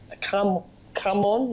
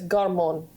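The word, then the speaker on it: cảm ơn: and he decided to say thank you, which is, I can't pronounce it either, but it's very similar to come on, like come on in English, but it's garmon.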